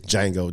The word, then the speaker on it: Django: watch that movie it's django the d is silent oh django yeah i